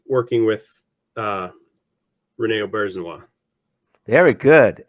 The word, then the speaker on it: Auberjonois: working with uh, Rene Auberjonois? Very good. Excellent pronunciation of his last name. Thank you. A lot of people get it wrong.